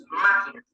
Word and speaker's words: máquina: Máquina. La lleva en ma.